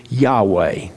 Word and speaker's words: Yahweh: it's not the lord we took the v out because it is yahweh when abram was 99 years old yahweh and i think it's